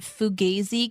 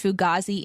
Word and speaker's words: Fugazi: I wanted to mention that I learned that Fugazi can be pronounced Fugazi and Fugazi.